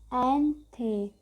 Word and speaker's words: Allende: These are some extracts of from the last speech of Salvador Allende, pronounced Anthe.